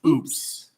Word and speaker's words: UPS: No, but UPS in Mexico is pronounced oops.